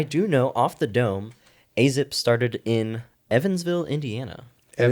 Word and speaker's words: Azzip: Azzip, that's exactly how you pronounce it.